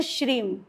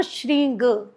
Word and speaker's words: श्रीं: अब इस पे यहाँ ये भी बताऊंगी कि जो गृहस्थ लोग हैं वो प्रोनाउंस करते हैं श्रीम, जो सन्यासी वर्ग हैं वो श्रींग, गकार रूप में ले जाते हैं, और ये मकार रूप में आते हैं गृहस्थ।